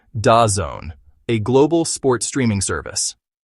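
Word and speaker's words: DAZN: A third riskier jewel is Dazzen Group pronounced Da Zone a global sports streaming service.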